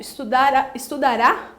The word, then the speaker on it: estudará: Gente, cuidado com a pronúncia. Estudara é no pretérito. Estudará, aí eu tenho uma alteração, aí é o futuro.